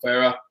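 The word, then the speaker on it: Feyre: you doing what you g do by no Farah yes like that that is correct a lot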